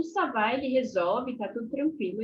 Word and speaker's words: ça va: savá savá E aí não tem muitos mistérios com relação a pronunciação é savá se você quiser fazer